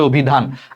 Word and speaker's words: অভিধান: অ এটার উচ্চারণটা কি? অভিধান। অভিধান দেখো ওর মত হয়ে গেছে। কারণ অর পর রসইকার আছে। অর উচ্চারণটা ওর মত হয়ে গেছে। এটার উচ্চারণ হবে অভিধান।